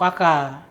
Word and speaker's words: Aka: Aka ya bacanya Ucok ya?